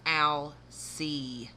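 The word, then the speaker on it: Alcide: pronounce the name correctly it's al c the d is silent arlene totally lied about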